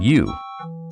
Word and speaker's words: ewe: A female sheep is called a ewe, pronounced just like you.